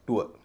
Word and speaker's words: TOUR: लेकिन TOUR, इसका उच्चारण हो गया टूअर।